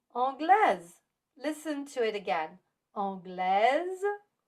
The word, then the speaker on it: anglaise: But when you add an E after a consonant, that makes us pronounce the S, like in anglaise.